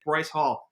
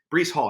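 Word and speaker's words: Breece Hall: also why that if bryce hall breeze hall excuse me breese or bryce hall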